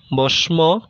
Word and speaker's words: ভস্ম: এক, শব্দের মধ্যে কিংবা শেষে অবস্থিত মফলা যুক্ত বর্ণের উচ্চারণ দ্বিত্ব হয় ও কিছুটা নাসিক্য প্রভাবিত হয়, যেমন পদ্ম, পদ্ম, ভস্ম, ভস্ম ইত্যাদি।